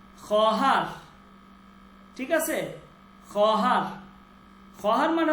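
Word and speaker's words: خواهر: এরপর হচ্ছে খহার, খহার, ঠিক আছে? খহার, খহার মানে হচ্ছে বোন। খহার মানে কি? বোন, বোন। আচ্ছা, এইখানে যে ওয়াওটা, এই ওয়াওটা লেখায় আসবে কিন্তু উচ্চারণে আসবে না।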